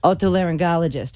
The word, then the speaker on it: Otolaryngologist: Otolaryngologist.